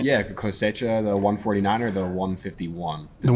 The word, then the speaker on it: Cosecha: Yeah, Cosecha, the 149 or the 151?